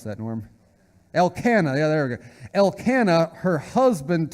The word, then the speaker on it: Elkanah: and then said Elkin elk how do you pronounce that into him Elkanah the other Elkanah her husband to her Hanna